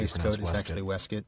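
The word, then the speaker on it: waistcoat: helped me understand that the word that's spelled like it's waste coat is actually wastes and of course I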